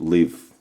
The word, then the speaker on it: LiHV: Not lipo, but live. I think it's the best way to say it right. Live. L I HV. Live.